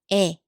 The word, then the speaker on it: 에: Okay, next one is 에. 에. And this one is 에. 에 looks slightly different from this one, but in modern Korean, they usually sound very similar. So this one is 에.